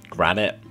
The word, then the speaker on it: granite: from my mob farm Granite the block was Granite there we go it threw me off it any had two syllables I was thinking it was like Granite but no it's just granite and it doesn't even